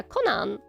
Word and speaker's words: Conan: I pronounce his name like Conan the Barbarian. Yeah, Conan. I could say Conan, which is more how they pronounce it um in in Japan.